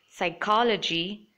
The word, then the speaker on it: psychology: spelled that way in these words P is silent pseudonym psychology pneumonia telephone alphabet and paragraph